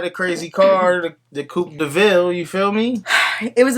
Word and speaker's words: De Vil: Spelled like devil, but pronounced DeVille.